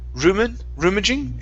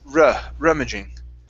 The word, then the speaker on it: rummaging: Right here, instead of rummaging, it's rummaging. Rummaging.